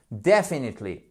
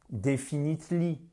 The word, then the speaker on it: definitely: Definitely. Et ce n'est pas definitely. Non. Definitely. Very important. You have the stress on the first syllable.